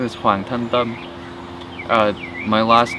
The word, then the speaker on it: Hoang: flat Northern accent so when I say my name it's hang uh if I were to be from the south I'd have a little bit of more of a uh uh twang to big or if